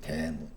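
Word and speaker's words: דמות: 대무트예요. 발음이 대무.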